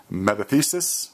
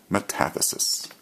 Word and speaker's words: metathesis: This, once again, is called double replacement, and it's often called metathesis, or some pronounce it metathesis.